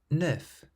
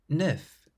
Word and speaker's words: neuf: The consonants at the end of these words are clearly pronounced.